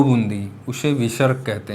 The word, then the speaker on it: विसर्ग: तो जो आह होता है 2 बूंदी, उसे विसर्ग कहते हैं। यह स्वर के बाद ये भी आता है, ये भी एक प्रकार का व्यंजन होता है और इसका उच्चारण हा की तरीके होता है, जैसे प्रातः।